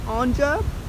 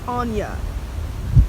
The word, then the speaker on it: Anja: People say my name Anja all the time. It's so annoying. It's Anja.